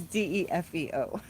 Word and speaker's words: DeFeo: Oh, it's DEFEO. You're close. You're saying it right. You're spelling it how it's pronounced.